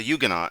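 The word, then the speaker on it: Huguenot: Christians just be no according to pronunciation on Wikipedia it actually is a yugan so okay I'll give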